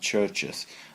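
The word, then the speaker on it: Chvrches: British sin pop and churches they spelling with a V but they pronounce it Church just as in a church so this is every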